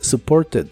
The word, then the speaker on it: supported: Y aquí sí se pronuncian estas dos letras, así que es supported, supported. En inglés americano se suele pronunciar este verbo del pasado sin la T, así que suena como supported, supported.